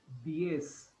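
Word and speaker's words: diez: Okay, the number for 10 is DS and Z is DS.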